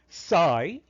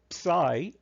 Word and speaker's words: psi: value of agent i psi sub v comma n i note that this greek letter can be pronounced either psi or psi both are equal now what exactly is